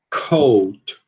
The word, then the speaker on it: coat: Coat, coat. E lembrando que esse k aqui vai ser aspirado, né? Devido ao fato dele ser uma sílaba tônica, né?